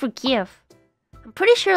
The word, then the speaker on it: GIF: I mean, I can make myself into a GIF. Is it GIF or GIF? I'm pretty sure like the official is GIF, but I always call it GIF. It's basically like a gift without the T.